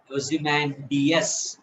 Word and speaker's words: Ozymandias: is the fourth syllable, S is the fifth syllable. So total ga ఇప్పుడు word పలుకు. కుమారి, yeah sir. ఆ word పలుకు. ఓజిమాండిస్. Wonderful. ఓజిమాండియస్, DAS ఉంది కదా, DS అన్న.